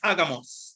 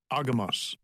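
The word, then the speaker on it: ἄγαμος: So it is agamos. This is the pronunciation. Strong's G22, agamos.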